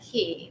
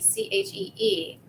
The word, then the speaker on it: qi: It can look like ki, like QI, but it's pronounced qi, CHEE.